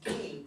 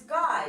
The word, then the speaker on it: Guy: saying, my name is Guy, right, but he didn't understand the instructions. So right. he said, my name is Guy, but Right. really he was supposed to say G. Guy, the French pronunciation, and he missed that.